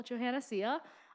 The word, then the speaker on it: Johanna Sia: hi i am still johanna sia uh just for pronunciation it's like joe and hannah put together and see ya like see ya later i'm also glad to